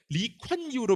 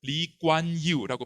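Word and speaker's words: Lee Kuan Yew: 이겁니다 이광교 싱가포르의 국보죠 이광요인데 리콴유로 표기한 건 잘못됩니다 이광교 본인이 자기의 이름을 리관유라고 발음합니다 k는 무기음입니다 하지만 한국에서 영어의 발음 습관대로 이렇게 관으로 잘못 표기한 겁니다 실제로 현지 표기에서는 유기음은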